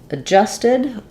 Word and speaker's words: adjusted: is an example of in adjusted and at we don't really say that D so like the L in always um we actually we're because we're stressing on the J syllable this is the letter a is going to be the uh an unstressed schah sound um and this symbol is not a d and a j it's the symbol for